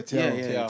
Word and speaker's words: Thiaw: Yeah, Thiaw.